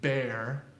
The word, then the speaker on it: bear: we know that so when you say the word bear you're using that cherry hair vowel that's all it's one